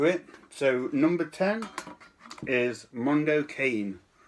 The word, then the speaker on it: Mondo Cane: So number 10 is Mondo Cane, or Mondo Cane as I've heard people pronounce it.